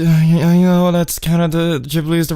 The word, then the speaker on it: Ghibli: Ghibli do you know that's kind of the jib leaves the right pronunciation but it sounds like it sounds like